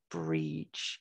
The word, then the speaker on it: Bríd: elongates the vowels so we have the same pronunciation for both of those words that would be bridge so when we see